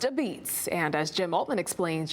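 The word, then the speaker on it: apizza: Pronounced a beats. Pronounced a beats. That's how we say pizza in New Haven.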